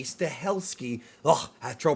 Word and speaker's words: Stahelski: newest in the action thriller series from Chad stahensky stahelski oh that's true pronouncing his name he's the director of all